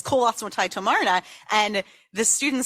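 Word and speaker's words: כל עצמותי תאמרנה: That's usually how we pronounce it. It comes from Tehillim, Kol Atzmotai Tomarna. But some people claim that the pronunciation of this line should be Kal Atzmotai Tomarna.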